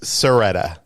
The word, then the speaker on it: Sciretta: do you say it it's a silent c so it's seretta s seretta okay